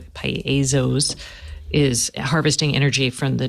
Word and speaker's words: piezo: no electric electrically so it is Piezo piezoelectric not piso Piezo there's two syllables learn something you were